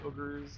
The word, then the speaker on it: Uyghurs: Ogres. That's how you say it. It's ogre. I've had many Chinese people pronounce it for me, and they say ogre. Ogre like booger, unfortunately, but these are the